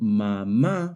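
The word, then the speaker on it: mamá: The word mama, however, also has stress on the last syllable, ma, but it ends in a vowel. According to the Spanish stress rules, if a word ends in a vowel, n or s, the stress should fall on the second to last syllable. Since mama breaks that rule by stressing the last syllable instead, a is added on the last a to show this irregular stress.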